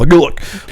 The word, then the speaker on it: Gulick: Yeah, which you can pronounce however you want. It's meant to be a guttural Gulick, like it's an orc name.